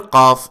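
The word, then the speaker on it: ق: The letter qaaf is pronounced like K in English, but it is deeper in the throat.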